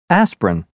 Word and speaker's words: aspirin: aspirin separate chocolate family the first e in interesting the first I in Aspirin the first a in separate the second o in chocolate and the i in family are all dropped so that you